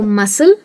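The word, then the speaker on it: muscle: Silent मैं उसको इसीलिए बोल रही हूँ क्योंकि सी यहाँ पे स बन जाता है। तो मसल, सीन, सेंट।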